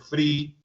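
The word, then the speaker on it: Vrij: Y por el lado europeo, el doctor Aldert Free, que se escribe, dado que es holandés, B corta, R, I y J al final, se pronuncia Free, Aldert Free, que dirige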